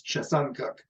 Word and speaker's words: Chesuncook: From the West Branch of the Penobscot River to Chesuncook. She corrected me because I was calling it Chesuncook, and Briar corrected me and said it's Chesuncook.